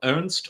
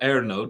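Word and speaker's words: Ernő: the Hungarian composer um Ernst or erno depending on if you're using the German the germanized or the Hungarian pronunciation of his first name um Ernst or ero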